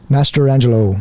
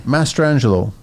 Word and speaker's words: Mastrangelo: How do you pronounce last name? Mastrangelo. Mastrangelo.